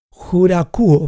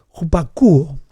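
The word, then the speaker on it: ὑπακούω: La palabra es jurakuo, más o menos. Sí, eso es más o menos la palabra. Perdón, estoy pronunciándolo mal. Jupakuo. Y kuo, la última parte de esta palabra griega, jupakuo.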